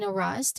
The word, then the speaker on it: harass: So the pronunciation tip it reminds us that you stress on the first syllable of course harass.